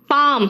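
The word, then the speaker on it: palm: इसलिए प्लीज आप क्या करोगे, बोलो क्या, इट्स बाम, पाम, पाम मतलब हथेली है ना, टॉक एल साइलेंट है, वॉक डान को कहते हैं आर्म्स,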